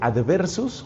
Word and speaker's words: adversus: En latín se dice adversus, con B corta, adversus a hereses, que se pronuncia hereses.